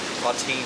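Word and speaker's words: Ottine: So their next major obstacle, other than this bridge, or this dam here, will be Auntine Dam. Autine Dam, that's how you say it.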